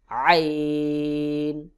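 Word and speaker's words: ع: মধ্যখান থেকে উচ্চারণ হবে হলকের মধ্যখান থেকে একটু চাপ দিয়ে উচ্চারণ করতে হবে যেমন আইন আইন হা এবং আইন এই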